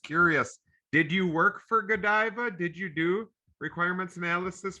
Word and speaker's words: Godiva: did you work for godiva did you do requirements analysis for godiva yes uh well a little bit no i'm still pronouncing it wrong right you go it's go diva yeah i learned that